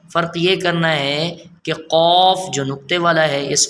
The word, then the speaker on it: قاف: فرق یہ کرنا ہے کہ قاف جو نقطے والا ہے اس کو ہم موٹا